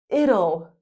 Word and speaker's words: it'll: It will. It'll it'll just like little we will wheel.